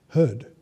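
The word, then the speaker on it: हृद्: Cognate word means that two words in different languages have the same origin, and this is the case with the word heard, H vocalic R-D. Because Sanskrit and English are both Indo-European languages, they have some correlations such as this that are quite interesting.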